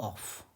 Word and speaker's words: off: OF का pronunciation होता है अव, ध्यान रखिएगा। और OFF को पढ़ते हैं ऑफ, यही इसका उच्चारण करेक्ट है।